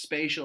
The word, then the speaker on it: spatial: is spatial that's pronounced spatial it has the word space in it and this is going